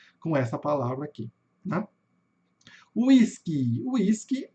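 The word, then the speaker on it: Whiskey: Whisky é exatamente o que a gente fala em português, tá? Sem grandes dificuldades. Tá? Mas olha só, pessoal, como se escreve em inglês, ó. W-H, K-E-Y, né? A gente não vai falar whisky, né?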